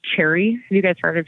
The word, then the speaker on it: Cherre: So we currently partner with a company called Cherry. Have you guys heard of Cherry? Cherries? Like in the fruit? Yeah, their logo is actually a cherry, but it's spelled CHERRE.